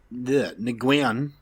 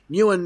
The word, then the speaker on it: Nguyen: So, due to the film's limited budget, director James Nguyen, I don't know. Okay, there you go. The G is silent, apparently.